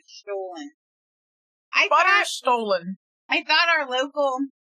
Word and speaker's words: Stollen: Stolen. S-T-O-L-L-E-N. But it's pronounced like a stolen.